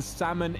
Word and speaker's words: salmon: um you don't pronounce the L in Salmon is silent thank you Percy thank